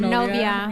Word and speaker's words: novia: Novia. Minonia? Novia.